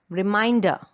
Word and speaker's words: reminder: Next, a 3-syllable word, reminder. Reminder. So the second syllable again is stressed.